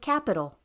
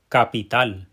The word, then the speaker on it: capital: Did you also notice how that tonic syllable, that syllable that is the strongest, that gets the pow, is at the end of the word?